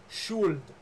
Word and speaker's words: Schuld: It's called Should. S-H-O-U-L-D. It was originally pronounced Schuld. That's why you have O-U-L-D, because that's how they pronounced it.